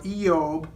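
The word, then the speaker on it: אִיּוֹב: of you have read the book of Job pronounced in Hebrew yeob recently but it is a tremendous book very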